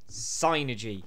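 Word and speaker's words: Psynergy: people the biggest one zynergy it's psychic energy synergy not synergy synergy oh we're off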